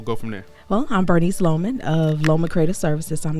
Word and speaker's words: Bernice Loman: So I'm here with Bernice Loman. Am I pronouncing it right?